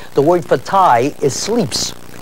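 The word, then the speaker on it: slips: The word for tie is sleeps. Sleeps is the way it's pronounced.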